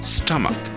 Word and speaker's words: stomach: H is cough the letter combination CH is read as the letter K so s T Oh m.a.c edge is stomach and chem-20 combination e